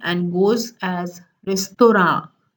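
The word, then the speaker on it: রেস্তোরাঁ: Then restaurant is a curious case because though restaurant is an English word, the Bengali pronunciation is closer to the French pronunciation and goes as restaurant, restaurant.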